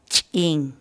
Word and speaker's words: Ch'in: de vídeos en la que te enseñamos a pronunciar algunas palabras en quechua así que nuestra palabra del día por hoy es ging kim kim la palabra quechua skin en español